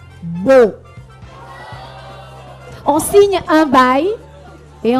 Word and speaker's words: baux: Lorsqu'on loue un appartement et lorsqu'on signe un bail, ce mot au pluriel est dit beau.